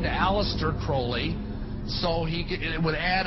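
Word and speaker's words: Aleister Crowley: I learned about was Alistair Crawley he likes to have his name pronounced Crowley to rhyme with holy and uh the Satanist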